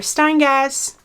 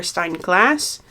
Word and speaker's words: Steingass: jennifer steingass funny fact i used to say jennifer stein glass until i had to look her name up for the video and it turned out i've been saying it wrong for two years um so let me